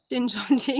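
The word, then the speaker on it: Shincheonji: So another South Korean cult based on Christianity, or says it's Christian, is the Shinjo Onji. I think have I pronounced that right? Shinjonji, yep.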